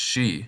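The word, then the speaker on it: し: Note that the final kana is pronounced shi instead of just si. It's irregular.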